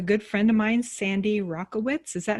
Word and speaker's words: Rakowitz: friend of mine sandy rockowitz is that how you say it sandy rocco wits i want to make sure uh like the tennis racket rackowitz rackowitz thank you thank you